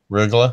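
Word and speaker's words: Rögle: Rugla.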